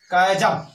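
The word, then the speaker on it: chasm: कायजम, कायजम, कायजम means होता है खाई। सी प्लस एच हो तब भी उसका उच्चारण क होता है।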